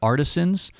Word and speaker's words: Artisyns: It's something that has been developed by a colleague of mine, and his company is called Artisans. It's spelled, I hope I don't mess it up here, ARTISYNS.